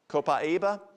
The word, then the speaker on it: copaiba: Copaiba, we use it for essential tremors.